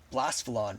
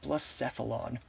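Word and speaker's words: Blacephalon: I used to call this blasphealon, but I was recently educated here on stream actually by my viewer for realoom that it is pronounced blissphilon.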